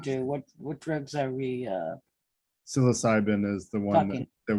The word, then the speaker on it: psilocybin: I did post an article that refers to studies on microdosing psilocybin, I can't pronounce it. Psilocybin, thank you.